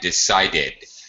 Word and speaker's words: decided: Decide, decided. That's it. Notice the additional syllable. That was perfect. Decide. Okay. 2 syllables. Decided. 3 syllables.